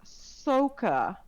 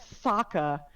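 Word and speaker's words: Sokka: characters of the show they're pronouncing his name as soka so ka and it's not like they had to read it off of text and try to figure out oh how do i pronounce that there was a literal cartoon where they probably said saka a hundred and fifty thousand times you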